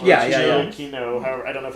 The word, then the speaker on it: Giacchino: Michael Giacchino. Yeah. Giacchino. I don't know if it's a hard C.